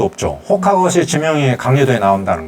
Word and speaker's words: Roca: 근데 영어 발음은 로카인데, 포르투갈 발음은 호카라고 발음을 하는 모양이에요.